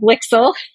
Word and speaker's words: LIXIL: LIXIL rhymes with pixel.